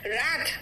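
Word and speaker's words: wrath: ठीक है, नेक्स्ट आओ डब्ल्यू साइलेंट है, इट्स राइट, डब्ल्यू साइलेंट देखो, रैट, रैट मतलब गुस्सा, रिंग,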